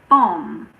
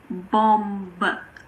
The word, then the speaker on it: bomb: We usually don't pronounce the B if it's after M at the end of a word. For example, bomb. It's not bomb. The last sound is m.